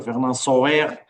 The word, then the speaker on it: Fernand Sauer: algo que o doutor Fernand Sauer, que é o diretor, a Fernand Sauer, para eu pronunciar o nome à francesa, porque ele é francês, da Alsácia, tem aqui